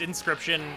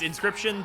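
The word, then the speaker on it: Inscryption: very much so yeah it's it's inscription it's inscription but spelled with crypt in the middle please please play or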